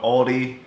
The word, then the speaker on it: Aldi: now and out etroesch I guess I'm saying it right Aldi some people call it Aldi I called Audi but hands down my